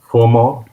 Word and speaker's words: FauxmoESP: Yeah, I think Uh, it's FOMO, FUMO. ESP, FOMO, because it's a French word, but it's half of it.